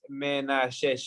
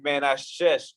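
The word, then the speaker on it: מנשה: Que en hebreo significa, bueno, en hebreo es Menashe, o sea, sí, algo así, Menashe.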